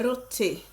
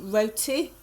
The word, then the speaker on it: roti: And in the very next video, guys, I'm going to show you how I make my roti. Some people pronounce it roti, others roti.